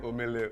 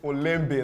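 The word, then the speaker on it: Olembe: cameroon corrected my pronunciation i said amelia oops sorry it's olympia that's the name of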